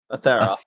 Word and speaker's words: Atheral: Atheral with an L. Wow. Yep, the L is silent. It's pronounced the Thera.